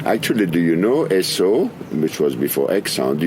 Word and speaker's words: Esso: Actually, do you know Esso, which was before Exxon? Do you know where that name come from? No. It's a pronunciation of Standard Oil, S-O.